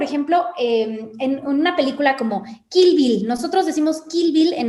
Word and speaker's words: Kill Bill: Porque esta I se tiene que pronunciar entre la I y la E. Y suena muy diferente. O sea, si tú escuchas Kill Bill y escuchas Kill Bill, escuchas aquí, la primera es español y la segunda es inglés, ¿no?